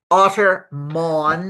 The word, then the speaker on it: Ottermon: Ottermon Ottermon.ai like monitor.